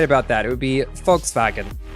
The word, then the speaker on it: Volkswagen: that it would be Volkswagen it's funny the V is pronounced like an F in German and the W is pronounced like a v it it's it's a